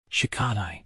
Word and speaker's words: Shikadai: "Shikadai," he said, putting stress on the last syllable.